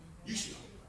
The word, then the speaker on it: Yeshua: Yeshua. We've been made alive through salvation, okay? That's what he did for us. All right, that first term there, Okay, Deacon Lee. You want to do Yeshua salvation?